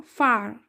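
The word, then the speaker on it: far: फार एफ ए फार र फार नहीं आएगा फार फार पिट पी आई टी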